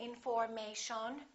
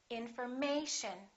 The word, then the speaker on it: information: here the a information so we don't say in and we don't say m we don't say information we say information once again information and